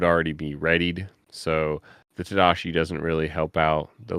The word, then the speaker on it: Tadashi: take care of that that was about the T sheida and Lilo yeah the Tadashi Tadashi see there we go we had three mistakes three Mistakes One Vince mispronounced Tadashi several times in that episode uh and this